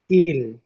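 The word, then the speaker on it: 일: আর রিউল নিচে বসলে রিউল নিচে বসলে ল হবে তো তারা সাইনুকুরানে একেরে বলে ইল একেরে কি বলে ইল বলে তারপর দেখেন দুই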